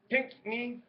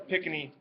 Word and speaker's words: Pinckney: up here is the Pinckney trick. I always call it the Pickney, even though I know it's not how it's pronounced, but that's how I pronounce it. But don't forget the other N in there, okay?